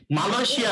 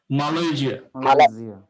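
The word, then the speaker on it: Malaysia: এই যা exactly, মালয়েশিয়া না, বাংলায় বললে মালয়েশিয়া ঠিক আছে, বাট যখন ইংলিশে বলবো মালয়েশিয়া, মালাইকা ঠিক আছে?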